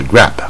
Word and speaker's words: grab: 它是大卷舌 grab 啊，所以它有大卷